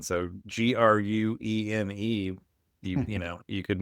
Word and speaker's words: Gruene: But yeah, this was what I was alluding to, speaking of mispronunciation. So Gruene, you could mispronounce that, but you nailed it, Graham.